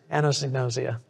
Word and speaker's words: anosognosia: indicates we're dealing with anosognosia. It's a tongue twister. If you want to learn how to say it, I use this trick. A woman named Anne knows egg. Nosia, anosognosia.